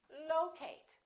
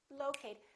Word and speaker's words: locate: at the next one is it locate or locate it's the first one again it's locate locate be careful you probably a lot of people say locate because they're thinking of the word location sometimes when we change